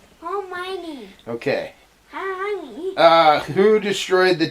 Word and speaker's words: Hermione: You can't ever say her name right. It's Hermione. Hermione.